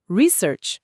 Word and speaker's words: research: Research. Perfeito. E notem que a entonação forte cai na primeira sílaba para o substantivo, né? Research.